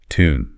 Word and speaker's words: tune: Feel that little J sound sneaking in for the British version. Duty, tune, new.